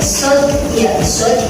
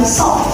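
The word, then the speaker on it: ص: Ya sod bukan sok karena tidak berharokat.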